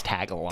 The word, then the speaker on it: Tagalog: It's Tagalog.